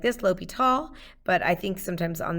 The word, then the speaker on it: L'Hôpital: L'Hôpital. And yeah, that's how you say it. It looks a lot like the word hospital.